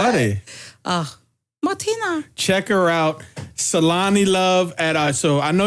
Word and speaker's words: Tselane: Saying it is one thing, but it's spelled T as in Tom, SELANELOVE. So Tselane.